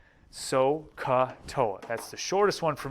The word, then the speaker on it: SOHCAHTOA: i use the mnemonic sohcahtoa s o h dash c a h dash t o a so k toa that's the shortest one